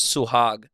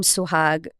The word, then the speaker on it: Suhag: You, as your name, I mean, your name is Suhag. I did not go by that in high school. What was your name? So I went by because so one, the name Suhag was very hard to pronounce for people.